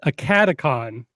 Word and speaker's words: AcadeCon: It's AcadeCon because it's Academy and Convention. Yeah. So AcadeCon. I'm from Kentucky. That's what it's going to sound like. So AcadeCon is coming up.